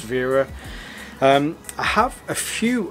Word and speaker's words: Wera: kind of thing uh from wearer or you know as a german company i guess it should be pronounced vera um i have a